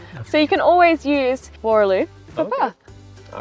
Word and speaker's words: Boorloo: Yeah, Boorloo.